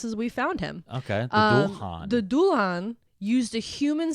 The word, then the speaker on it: Dullahan: It's spelled Dullahan. Dulhan.